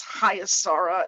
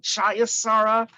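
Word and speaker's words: Chaya Sara: And I can relate to that because my Hebrew name is Hayasara, and I'm always getting Chayasara, Hayasara, anything but the proper pronunciation. And if there's the Library of Congress, the guttural CH is usually with an H with a dot underneath, like a diacritical mark.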